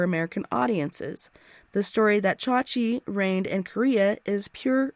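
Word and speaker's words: 자지: for the penis is cha-chi with emphasis on the first syllable but joni loves chachi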